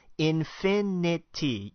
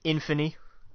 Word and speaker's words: infinity: film sorry wish I repeat after me infinity you got you're missing a syllable there and it's driving me crazy wait what am I saying in Finney oh Anthony I'm in